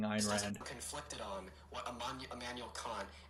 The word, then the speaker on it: Ayn Rand: I think he's just mispronouncing Ayn Rand. Conflicted on what Immanuel Kant and Aaron Rand have to Aaron say.